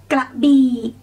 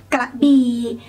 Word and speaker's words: Krabi: So when you want to say it, just go low for both syllables. Krabi, Krabi. Do not say ka. Do not say B. Go down or go low. Ga B.